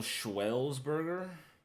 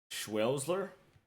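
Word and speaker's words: Schwärzler: say his name Joel schellsburg no there's no Burger in it schler Joel schler versus Alexander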